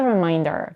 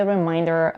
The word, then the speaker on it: reminder: about the pronunciation the the difference between the two words is in the vowel in the second syllable remainder is pronounced with a diphthong a is in Main and reminder is pronounced with another diphthong I as in mine the rest of the vowels in both words are reduced to a schwa now let's try this